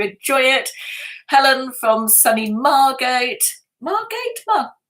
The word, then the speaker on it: Margate: it helen from sunnymargate margate yeah margaret that's the right way to say it wrote off so many